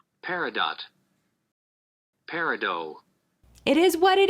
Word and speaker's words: Peridot: I pronounce it wrong. Peridot.